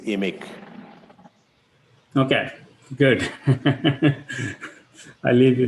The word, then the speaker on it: IMIC: may just interrupt albany sorry the pronunciation is emic okay good i'll leave